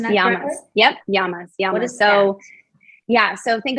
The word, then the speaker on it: yamas: dude that's right number one yamas am i pronouncing that yeah yep yamas yeah so yeah so think of yamas as